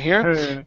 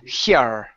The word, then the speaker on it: her: go yeah good so you drop the tongue so your tongue isn't hitting the top of your mouth to pronounce that H her one more time